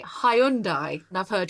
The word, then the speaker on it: Hyundai: most people would say hyundai and i've heard hyundai what is the right pronunciation because obviously it's a korean word the korean pronunciation is hyundai sunday it has a good